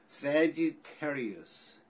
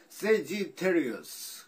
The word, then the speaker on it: Sagittarius: Sagittarius. Sagittarius도 깨물겠네. 예, 혀 깨물게 생겼어요. Sagittarius. G도 아니고 D도 아니고 DG 그 발음 있죠? 이상한 발음. Sagittarius. 갑자기 왜 서태지가 생각나지? Sagittarius.